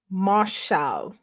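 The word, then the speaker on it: מָשַׁל: I don't have the Strong's number, but the pronunciation is Mashal.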